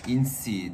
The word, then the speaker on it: inse: Dedim yani inse böyle mi gerçekten? Insi diye okunuyormuş.